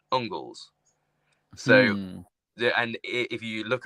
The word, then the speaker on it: Angles: If you think of Angles, used to be Engels, but it was actually pronounced Ungles.